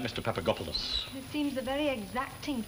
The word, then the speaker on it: Papagopoulos: 6, Miss Nugent, and the name is Papagopoulos.